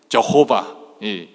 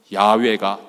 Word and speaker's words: 야훼: 그래서 우리는 저호바, 영어로는 저호바라고 그러잖아요. 그리고 우리 한국어로는 여호와 그런데 이제 최근에 학자들은 야훼가 더 정확한 발음이다.